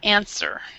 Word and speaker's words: answer: word right here answer this W right here is is silent so answer she she whispered the